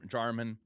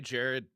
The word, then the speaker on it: Jarman: get names right because my name IRL is Jarman, and so many people get my name wrong all the time. Like start work new job. What's your name? Jarman. Okay, Jared. No, that's not what I said.